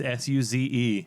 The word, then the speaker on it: Suze: There's no Y. It's Suze.